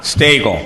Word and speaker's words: Stegel: Stegel. Rhymes with bagel.